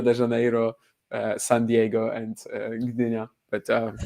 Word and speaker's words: Gdynia: How do you pronounce it? Gdynia. It's Gdynia. Is the G silent? No. Oh no, do you say the G?